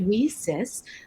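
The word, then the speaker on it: WiCyS: acronym nieces w-i-c-y-s and we pronounce it we cis like we sisters because we are a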